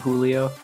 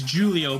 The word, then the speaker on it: Giulio: It's not Julio. It's Julio, but it's spelled very weird. It's spelled Giulio. Oh, so like the Italian variant of like Yes.